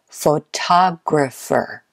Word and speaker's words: photographer: guess them all right which syllable is normally stressed number one is photographer photographer is it the first syllable the second syllable the third syllable or the fourth photographer I hope you said